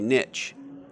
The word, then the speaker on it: niche: know want to say niche and niche rhymes with things that niche doesn't like one of the